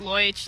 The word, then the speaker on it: Loischinger: Well, because people can't always pronounce my name, it was just Loich, like the first half.